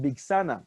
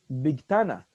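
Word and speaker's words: Bigthana: It's not for Ashkenazim, because Ashkenazim will pronounce it Big Sana with a Saf and not a Taf. But Sephardim will pronounce it Big Tana.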